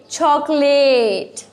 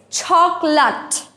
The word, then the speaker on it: chocolate: We are very familiar with the word chocolate, but interesting here is its pronunciation. Most of the students say chocolate. It's not chocolate, it's chocolate.